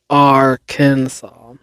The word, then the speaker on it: Arkansas: But the final S is silent in French.